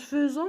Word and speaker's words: faisons: nous faisons ne faisons en prononce faisant mais ça s'écrit avec un i donc faisons vous faites